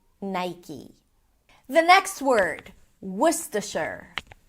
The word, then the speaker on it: Nike: Um, and therefore, people assume that it might be Nike, but in fact, it's pronounced as Nike. Nigh. I as in my, and then E as in C. Nike.